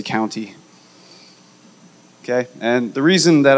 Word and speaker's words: Countey: understandable since first grade chris country courtney county it's county ey so if you're looking for me and you're looking at us say my name please say county okay and the reason